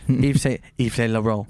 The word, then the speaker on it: Yves Saint Laurent: Yves Saint Laurent. You have to say it like that.